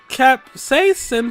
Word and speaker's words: capsaicin: It activates the capsaicin found in chili peppers. I never knew how to pronounce that.